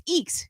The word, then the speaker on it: Eeks: Seeing a mouse. Eek. Oh, so it's Eeks.